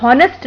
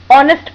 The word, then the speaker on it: honest: हैं, लेकिन यहाँ हमें उन्हें समझाना होगा कि वावल से पहले आने वाला कॉन्सोनेंट साइलेंट हो जाता है, इसलिए वो हॉनेस्ट नहीं ऑनेस्ट पढ़ा जाएगा।